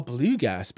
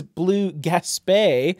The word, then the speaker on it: Blue Gaspé: A blue gasp, actually. Correctly pronounced, this is blue gaspé, and it is a